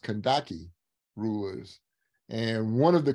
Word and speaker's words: Candace: them kandaki rulers and we spell It Candace c-a-n-d-a-c-e but it's pronounced kandaki rulers and one of